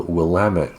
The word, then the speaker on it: Willamette: like I said, and we'll have a link to an article from the Willamette Week.